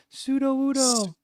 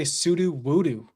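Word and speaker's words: Sudowoodo: Pseudo woodoo. It's that simple. But if you watch the cartoon, it goes pseudo woodoo. Yeah, but like I feel like Okay, sudo wudoo. It's definitely not voodoo.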